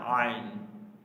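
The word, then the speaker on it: ع: অলা থেকে ঠিক আছে আইন আইন আইন গলা থেকে উচ্চারণটা করতে হবে আইন আইন গলার কন্ঠনার নারী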